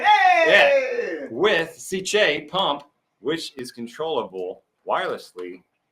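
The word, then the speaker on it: Sicce: It's a hard C. It's a Italian. Hey! With Ciche pump, which is controllable wirelessly through your apex right here.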